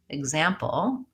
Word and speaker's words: example: checking my own information when the X is before the stressed vowel we pronounce it as a GZ so for example example if you look at that word example there's the stress is